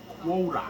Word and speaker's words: Qworach: We should probably pronounce his name Qworach, right? Because it's a kuf. Qworach.